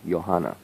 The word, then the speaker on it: Johanna: Joh a double na johanna I say yo but it's a J it's you know the German pronunciation I think you would